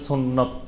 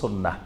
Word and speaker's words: সুন্নাহ: তো এই জন্য বেশি পরিচিত আমাদের দেশে সুন্নত নামে, কিন্তু এটা শুদ্ধ আরবি উচ্চারণ হলো সুন্নাহ।